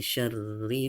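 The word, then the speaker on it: شَرِّ: Nah seperti halnya di ayat yang pertama tadi, ro ini ada tanda tasdid. Kalau di ayat pertama tadi itu ada ba yang bertasdid, juga ditahan membacanya dengan cara menahan ya. Seharusnya ro ini double, supaya tidak double ditulis maka dia diganti dengan tanda tasdid ya.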